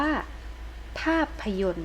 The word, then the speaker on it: ภาพยนตร์: ว่า อะไร เออ ง อ่าน ว่า ภาพยนตร์ นะ คะ ตัว นี้ ก็ ไม่ ออก เสียง 2 ตัว ต่อ ต่อ รอ เรือ